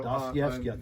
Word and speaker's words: Dostoevsky: So right now I'm reading Dostoevsky's The Brothers. I can hardly ever say Wow. that. Yes. It's a hard one to pronounce. So, Dostoevsky, did I say it right?